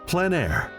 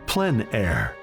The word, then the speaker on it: plein air: Called plein air, the French coined the term, which means open air or outdoors. The French pronounce it plein air. Others say plein air.